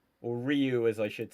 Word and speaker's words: Ryu: Or Ryu as I should say. Do you know what? Damn that original Street Fighter Vang Dam movie. The character goes Rayu.